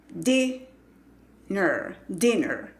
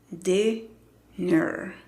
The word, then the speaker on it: dinner: No es dinner. Dinner is ready. No. Es dinner.